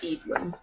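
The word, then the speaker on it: Eadlyn: e a d l y n but it's pronounced edin edin the prince's name sounds like a Utah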